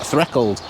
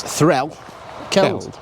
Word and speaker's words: Threlkeld: I was going to say something like Threlkeld. I think that's how the locals, some dialects do pronounce it like that, so. But apparently it's Threlkeld, not called Keld.